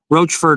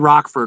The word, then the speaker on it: Roachford: some cases like here it's supposed to be uh um Rockford or Roachford. Yeah, Roachford Road. We said Rockford originally and some and we were corrected by people in town told us it was Roachford and that's what we did.